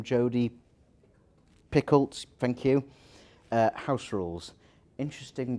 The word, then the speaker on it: Jodi Picoult: So first one, I can never pronounce the author's name, Jodi Picoult, thank you.